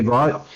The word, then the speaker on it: Vaught: Vaught, pronounced Vaught.